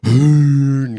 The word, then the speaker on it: Huhn: It's a German and it's pronounced hoon.